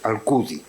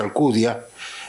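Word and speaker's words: Alcúdia: Alcudi, que Alcudia, la villa mallorquina, pero col nome en el dialecto mallorquín, Alcudi. En catalán dice Alcudia, pero ellos pronuncian Alcudi.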